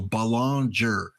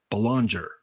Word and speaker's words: Belanger: job of pronouncing it so balanger Belanger okay so Joe Morgan